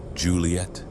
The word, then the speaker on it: Juliet: Juliet, Julie-a-T, spelled with that extra T at the end. This was another careful choice, especially for French speakers, so they wouldn't be tempted to leave the final T silent.